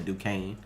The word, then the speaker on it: Duquesne: why i said that it's spelled like duke estimi but he's they pronounce the duquesne yeah like elena was